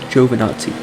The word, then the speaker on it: Giovinazzi: I know his last name is pronounced Giovinazzi.